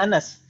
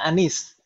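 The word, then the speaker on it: أنس: Anas, di sana kalau tulisannya seperti itu, pendek seperti itu semuanya, itu bacanya Anas Ibu ya? Kalau Ibu-ibu misalkan nanti, itu kalau di bawah kan nggak ada harokatnya, itu tetap bacanya Anas. Jangan dibaca Anis.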